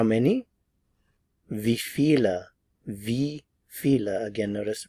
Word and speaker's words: wie viele: of the V feel feel V how many V Vila again notice the pronunciation of the letter W here V and